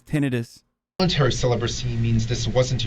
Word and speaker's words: tinnitus: Holy I can't This is like when I found out that the way the proper way to say tinnitus is tinnitis.